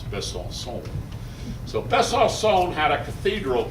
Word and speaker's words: Besançon: Well, there was a fire in 1349 in the cathedral at Besançon. That's my French friend explaining that Besançon is not the way you pronounce Besançon.